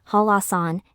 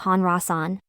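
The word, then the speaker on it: 한라산: in juu Island halasan the initial consonant of the second syllable La influences the final consonant of the preceding syllable neun leading to the pronunciation halasan instead of Han rasan in this way when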